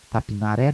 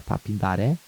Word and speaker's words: Tapindaré: Aliás, aqui a nossa pronúncia é Tapinaré, né? Mas o nome mesmo é Tapindaré. Mas eu pronuncio Tapinaré.